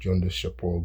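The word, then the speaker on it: Gundishapur: That's the Academy of Gundis Shapur, it's pronounced Jundis Shapur, Gundis Shapur.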